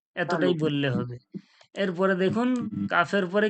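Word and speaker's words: ك: মাখরাজ তারপরে কি হয়েছিল কফ কফটা কোথা থেকে জিহব্বার গড়া ওর সজাসজি তালু তালু থেকে তারপরে কি কাফ কাফ কোথা থেকে জিহব্বার গড়ার একটু আগে ওর সজাসজি তালু জিহ্বার গড়া থেকে একটু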